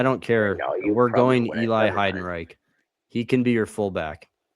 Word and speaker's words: Heidenreich: Heidenrock or like Heidenreich is the right.